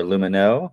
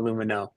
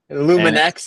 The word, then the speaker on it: Lumineux: in and um the brand on Amazon is pronounced lumu or lumino what would you say proper pronunciation here so people don't butcher you so if you're in France it's Lumin but normally we just call it lumino so either one is fine Lumin X is